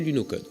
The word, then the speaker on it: Lunokhod: signifie vadrouilleurs lunaire les par commodité on va utiliser la prononciation française et l'appeler lunokhod pour le concevoir que